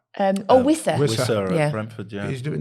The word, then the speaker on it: Wissa: Have I pronounced that right? Wissa.